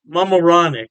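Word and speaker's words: Mamaroneck: New York state Poughkeepsie and I believe is pronounced moronic mamaronic yeah don't quote me on that pronunciation I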